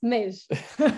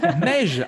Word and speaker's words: Meigge: Alors, juste mon prénom, ça se prononce Mej. Mej.